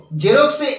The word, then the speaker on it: Xerox: z এখন এক্স সমান z কিভাবে ধরবো দেখো জেরক্সে এক্স দিয়ে জেরক্স বানানটা শুরু হয় কিন্তু এক্স বর্ণটি ব্যবহৃত হলেও